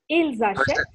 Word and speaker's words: ils achètent: Ils achètent. Ils achètent. Ils achètent. For the last one, you have to give the S sound because Ashet begins with a vowel there.